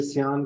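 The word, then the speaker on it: cyan: को मिलाएंगे तो ये सायन कलर होता है, जिसको आप नीला कहते हैं। ठीक है। ये सायन या आम लैंग्वेज में सियान कलर बोलते हैं, प्रॉपर इसकी प्रोनाउंसिएशन सायन है।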